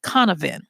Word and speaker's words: Cynefin: a place of multiple belongings and it's called conovan and it's spelled Cy NE e f i n and